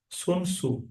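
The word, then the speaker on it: Sun Tzu: उनका नाम यह है सुन सु टी साइलेंट रहेगा जैसे सुनामी में साइलेंट रहता है वैसा समझिए तो इनने यह इस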